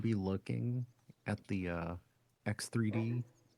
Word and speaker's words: X3D: the uh you know X3D cash. You you constantly say it wrong. It is X 3D. Did I say 3DX again?